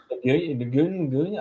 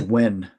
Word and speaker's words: Nguyen: Nguyen? I don't know. I'm horrible. I think it's just pronounced Wen.